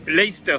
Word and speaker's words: Leicester: là sur le cinéma nous prenons le lait et la fin stère le milieu on ne le prononce pas donc Leicester Square c'est l'endroit où